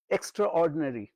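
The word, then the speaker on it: extraordinary: হয় না এক্সট্রা অর্ডিনারি অর্ডিনারি আই টা যেন নেই অর্ডিনারি অর্ডিনারি অর্ডিনারি নয়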